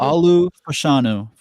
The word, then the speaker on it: Olu Fashanu: Pronounce it for me. Olu Fashanu Good.